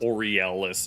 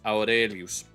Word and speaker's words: Aurelius: So Marcus Arielis, it's Marcus Aurelius book number seven.